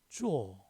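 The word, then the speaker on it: 作: 중국 발음으로는 리을, 기역, 비읍, 받침, 입성이 없다. 작자도 쪼. 어제 작도 쪼우. 기역, 받침 없죠.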